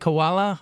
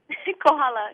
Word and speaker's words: Kohala: Koala, Hawaii. Kohala.